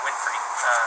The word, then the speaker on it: Winfrey: My first name's, like a book of maps, and my last name's Winfrey, like Oprah.